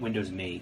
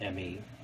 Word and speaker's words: Windows Me: me Oops I meant Windows me because it's pronounced me not not Emmy setup is now ready